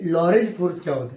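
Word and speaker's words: Lorentz: तो चलो अब बात करेंगे कि लॉरेंज फोर्स क्या होता है। अब किसकी बात करेंगे? तो लॉरेंज फोर्स की बात करेंगे कि लॉरेंज फोर्स क्या होता है। लॉरेंज, इसका टी साइलेंट है।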